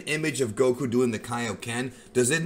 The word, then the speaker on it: kaioken: most comprehensive and detailed look at what the kaioken is and how it works on this edition